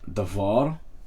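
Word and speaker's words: דבר: So, the last syllable has as usual the tone. Okay? So, here is the tone, devar. Okay? The tone is on var.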